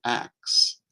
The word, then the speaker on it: ask: are you've heard people use the term Acts uh as in I'll ask you a question um or uh I want to ask about that um and you may have thought that's just a mispronunciation that's actually not English it's Scottish uh it would be the proper pronunciation in Scottish what happened with that